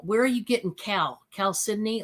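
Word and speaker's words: chalcedony: But it's actually pronounced Cal Sydney. I looked up the proper pronunciation, believe it or not, because I had some people calling it I was calling it Chel Sedoni because of the way it was spelled.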